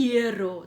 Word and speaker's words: hierro: Porque quando eu vou pronunciar, eu vou falar mais o som do E do que do I. Oro e hierro.